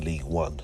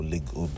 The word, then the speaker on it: Ligue 1: A team that's, 10th in League 1, so, or Ligue 1, as, you know, the French pronounce it, but...